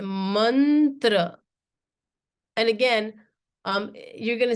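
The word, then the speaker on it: मन्त्र: write this Mantra right it's not pronounced Mantra it's a manra and again um you're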